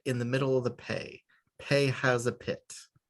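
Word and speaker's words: פא: Pei, as in Passover or peach pit. Do you see the peach pit in the middle there? There's a pit in the middle of the pei.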